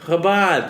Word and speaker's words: Chabad: Can you not disrespect it by calling it Habab? Habab. It's like crazy disrespect to call it Habab. How do you say it? Habad.